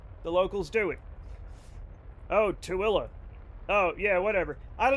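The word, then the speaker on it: Tooele: The name pronounced Tilla derives from the name of a goshoot chief.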